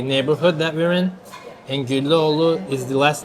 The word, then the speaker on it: Güllüoğlu: that we're in, and Güllüoğlu is the last name of the owner. So we spell G with G. Güllü. Oh, and this one we call soft G in Turkish. Okay. And it's silent.